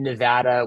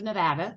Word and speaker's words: Nevada: And I have to say, perfect pronunciation of Nevada, so I appreciate that. It's a thing here. Don't say Nevada when you're on a Zoom with the people from Nevada, because they'll get all at you.